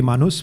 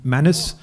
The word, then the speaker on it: Manus: It'll be Manus but it's called Manis. Manus. So Marati people will call it manus and most of the Americ will call it manis.